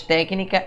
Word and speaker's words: técnica: Mais técnica é proparoxítona. Olha aqui, ó. Técnica. Paroxítona, sílaba tônica é a penúltima. Proparoxítona é a antepenúltima. Então é proparoxítona.